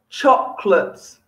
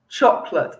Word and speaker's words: chocolate: Chocolate. I love chocolate. I don't know if you like chocolate too, but I love chocolate, not chocolate. Chocolate. Two syllables. Okay, it looks a lot longer, but just chocolate.